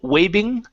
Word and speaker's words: waving: Give me a V sound here instead of waving.